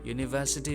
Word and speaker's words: university: a raid at university university begins with a consonant sound here as in u